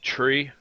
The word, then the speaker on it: three: three five and nine the number three is say like tree like the thing that grows our to ground and makes leaves five is said like